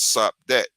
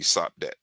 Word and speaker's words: Sopdet: And that's the SPDT, because when you're spelling when you're speaking in metanetter, you just take the vowels out, and that's how you pronounce the word. So SPDT would be Sopdet. You see what I'm saying? Without the vowels.